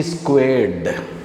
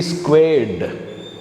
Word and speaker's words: squared: Similarly, if you go to this, 3 squared, not 3 square. Careful, let's do this. Is 3 square equal to 2 cube? Is 3 squared is equal to 2 cubed?